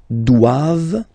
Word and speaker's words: doivent: And then the last one, ils doivent, so same thing, classic ending for the plural form, ENT here, okay, but then you don't pronounce it. Doivent, doivent, elles doivent, ils doivent, elles doivent.